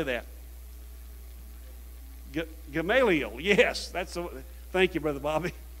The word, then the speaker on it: Gamaliel: Gamaliel, yes.